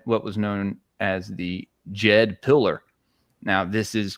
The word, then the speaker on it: Djed: And when you look into Ptah, and he had what was known as the Jed pillar. Now this is spelled Djed because they were Jedis, right?